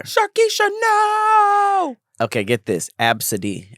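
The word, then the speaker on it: Abcde: Absidy, and you spell it A-B-C-D-E.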